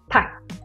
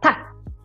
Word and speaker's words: tack: So here it's very important to pronounce it as a short A, tack, and not ta.